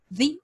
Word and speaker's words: the: And the Oscar goes to the Oscar. Lembra que o TH você põe a língua entre dentes, dá uma sopradinha e pronuncia the, the, the, the.